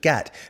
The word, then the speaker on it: git: called him the aforementioned gat, because this is how they pronounce git in Liverpool, closer to the original way of saying it.